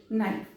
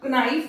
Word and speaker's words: knife: KNOW, नो। KNIFE, नाइफ। यहां पर ऐसा क्नो नहीं बोला जा रहा, ना क्नाइफ बोला जा रहा है।